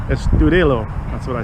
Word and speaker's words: Estudillo: Estudillo.